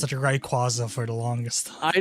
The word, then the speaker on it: Rayquaza: It's Rayquaza. It's always been Rayquaza to me. I pronounced it Rayquaza for the longest time.